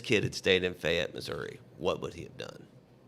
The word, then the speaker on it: Missouri: They said, that's how you say it, boy, Missouri.